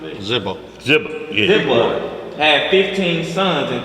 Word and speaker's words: Ziba: Then the king called to Ziba, Saul's servant, and said unto him, I have